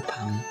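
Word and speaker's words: 怕: Artinya takut dan cara bacanya mirip dengan pai, jadi pa. Berarti masih ingat ya, bertepuk tangan itu kan juga pakai pai, artinya berhubungan dengan tangan, berarti tepuk tangan.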